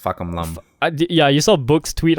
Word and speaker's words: Fahkumram: It's Fahkumram. Fahkumram, not fuck your mom. It's like... yeah. I don't know. It's too hard for me to pronounce. Even the announcer, the R is changed to an L.